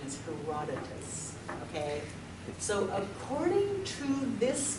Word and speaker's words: Herodotus: can you can't sound it out the Greek pronunciation is Herodotus okay so according to this guy however like